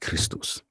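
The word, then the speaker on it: Χριστός: in Greek XP act is XPto and is pronounced Christos.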